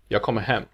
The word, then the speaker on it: Jag kommer hem: As you just heard, this is actually pronounced jag kommer hem. Jag kommer hem. The last word has a sentence emphasis, while the two former words are unstressed and thus blend together.